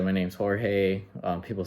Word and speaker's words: Jorge: Hi everyone, my name is Jorge, and a lot of people tend to mispronounce my name because in English it's George, but my name is in Spanish, so it's actually Jorge.